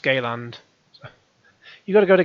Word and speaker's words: Galand: um your character's name I thought I thought his name was Garland at first but yeah don't laugh his his name is galand so g-a-l-a-n-d pronounced Gayland you've got to go